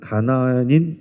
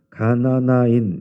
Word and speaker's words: 가나나인: 이게 다른 현대인 성경에 이런 데 보면 가나안인 이렇게 되어 있어요. 근데 정확하게 하면 가나나인 이게 맞습니다.